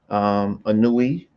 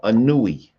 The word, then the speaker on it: Ani: Anui, the papyrus of Anui. That's what you're talking about, the papyrus of Anui. well, they pronounce it Ani. That AI.